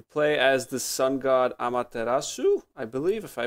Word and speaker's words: Amaterasu: You play as the sun god Amaterasu, I believe, if I pronounced that right, if I remember correctly.